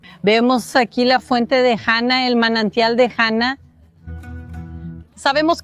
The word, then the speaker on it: Hana: Hana es el nombre, la pronunciación correcta en hebreo que significa la gracia de Dios.